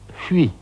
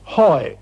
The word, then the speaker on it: Huy: News had just come in that the German armies were making for a place on the Meuse called Huy, H-U-Y. It's a very difficult word to pronounce in English.